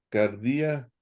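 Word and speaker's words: καρδία: Entonces dices, jo de autos, didáscalos, exei, ten, auten, harán, en, te, cardía, autou. Cardía, acento en la I.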